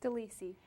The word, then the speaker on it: DeLisi: her name is your last name pronounce it for me Deli Deli from Great Lakes Caring um Hospice